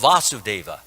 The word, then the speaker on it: Vasudeva: stop for one moment so often I hear devotees pronouncing these two names as the same Vasudeva Vasudeva okay who is Vasudeva yes and who is Vasudeva his father yes so there's a slight difference in the pronunciation Vasudeva like V us and Vasudeva like Vash yes so we should beware